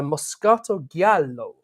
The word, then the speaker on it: Moscato Giallo: And this one is a Moscato Giallo, which I can pronounce like that because we've realised it is Italian, that particular word, and not trying to sort of get my head around that one.